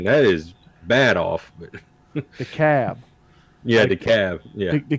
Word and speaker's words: DeKalb: But The Cab. yeah, the cab. Yeah. The Cab is DEKALB, Mm-hmm. but the L is silent.